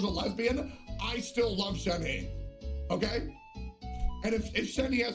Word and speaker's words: Shenhe: Just say Shenhe and not Shenher.